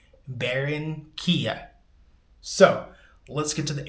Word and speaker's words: Barranquilla: Now, I know you're supposed to roll those R's. I can't roll my R's, so I'm just going to pronounce it how I'm pronouncing it. Barranquilla.